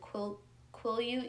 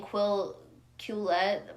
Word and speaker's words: Quileute: someone had corrected me on how I pronounced Quileute. Is it Quileute? Yeah, Quileute. Because I keep saying Quillette by accident, so Quileute.